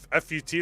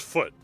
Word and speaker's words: FUT: Oh, it's not pronounced fut. It's pronounced foot.